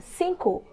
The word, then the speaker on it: cinco: Number five is cinco. Cinco.